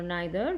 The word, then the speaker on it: neither: are does neither okay you can pronounce it neither or neither both of them is correct of them want to